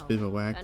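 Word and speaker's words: bivouac: Cottage or not Restless bivak my bad there's Restless Cottage bivak it's such a weird word I'm pretty sure that's the right way to pronounce it I I Googled it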